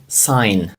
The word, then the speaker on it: sign: Сам по собі знак англійською звучить як sign. Sign. Якщо можете і маєте змогу, повторяйте за мною. Отже, sign - це знак. Там в слові sign є літера G, але вона не вимовляється, вона глуха.